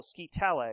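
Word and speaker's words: scytale: They wound a leather strap around a baton called a scitale, which is pronounced kind of like Italy, spelled like skytail.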